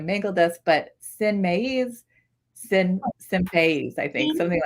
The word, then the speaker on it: maíz: I can't speak Spanish, so I'm going to mangle this, but sin maíz, sin país, I think, something like this.